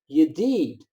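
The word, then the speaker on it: ידיד: It is yedid. And it is spelled Yud Dalid, Yud Dalid.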